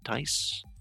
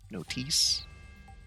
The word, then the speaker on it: NOTIS: in person notice hey am I pronouncing this correctly no not dice notice what is that anyway